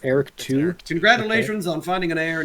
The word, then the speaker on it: Eric II: pleased I'm sure little Eric II will grow up to be a chip off the old block you are plotting against me forever please pronounce it correctly it's Eric too congratulations on finding an